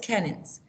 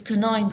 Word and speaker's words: canines: i was reading it i think i said cannons it is canines girls i check the